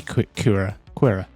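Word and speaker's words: Qi'ra: I've also been doing that because we do see Kira. Yeah, that's how you pronounce her name.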